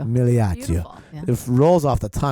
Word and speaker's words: Migliaccio: But Migliaccio, if you Yeah. say it in Italian. oh The G no, is silent. really? Silent, yeah. Migliaccio. Migliaccio.